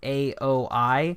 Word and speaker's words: Aoi: weeaboo so I have no idea how to say it it's aoi so sorry if you get offended by how I pronounce I'm gonna say owie so he bought this